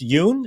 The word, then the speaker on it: Yun: Lawrence Yun?